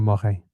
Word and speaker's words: Morin: Very important piece here by Brandy Morin, or Morin, if you're going to pronounce it French style, that appeared in Substack, her feed called Indigenous Insider.